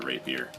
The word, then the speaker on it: rapier: them and hitting them with a rapier. Emphasis on the first syllable.